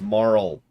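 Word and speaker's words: Marle: It's pronounced Marl.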